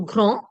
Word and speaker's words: grand: So when your D, P, T, S, and even X are at the end of the word, don't pronounce it. It's silent. So grand, chaud, fro, petit, frais.